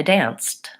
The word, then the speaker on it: danced: let's try some more I danced I danced there's the e d sancti danced it's a T sound I listen I listened